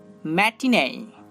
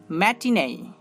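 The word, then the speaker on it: matinee: Double এই letter দুটিও এই sound উৎপন্ন করতে পারে, যেমন ম্যাটিনে ম্যাটিনে।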